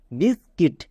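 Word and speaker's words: biscuit: Next বিসকিট।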